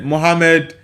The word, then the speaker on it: Muhammad: Uh it says, "When you say Muhammad, we will also know that you are a foreigner because we pronounce the letter H more deeply than that.